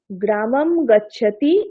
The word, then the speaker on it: গ্রামং গচ্ছতি: বলুন কে বলবে সংস্কৃতে অনুস্বারের উচ্চারণ সাধারণত মকারের ন্যায় হয়ে থাকে যেমন গ্রামাং গচ্ছতি এটি উচ্চারিত হয় গ্রামাম গচ্ছতি এরকম অনুস্বারের উচ্চারণটি আরো